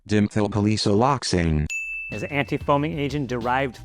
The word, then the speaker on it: dimethylpolysiloxane: This word looks like this and is probably pronounced dimethylpaloxylexane. Dimethylpaloxylexane.